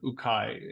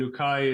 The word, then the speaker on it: ukai: like anchors the book is the story of ukai and ukai is it's spelled UK AI um it's a form of